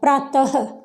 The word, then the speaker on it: प्रातः: अब इसके साउंड यानी कि इसका उच्चारण क्या हो जाएगा, प्रातः, ह की आवाज आएगी किसके जगह है, जहाँ विसर्ग होगा उसकी जगह है।